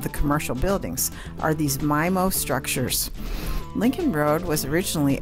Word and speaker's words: MiMo: Road he pioneered the my most I'll often pronounced MIMO for the record it is pronounced my mo mi mo is